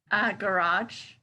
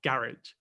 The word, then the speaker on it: garage: So the first one was all about stress.